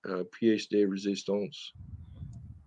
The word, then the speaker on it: pièce de résistance: Pièce de résistance.